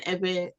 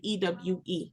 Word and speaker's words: Ewe: if you use ewe they gave us that name ewe because they couldn't pronounce v so they they you know substituted the B with a W and so we are